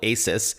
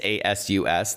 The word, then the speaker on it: ASUS: I'll tell you more about ASUS shortly, or as my friends call it, ASUS, but it is ASUS. The company tells me it's pronounced ASUS.